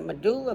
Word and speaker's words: medulla: should have heard of medulla before m it's med like med m e d u oo u l l a so three so the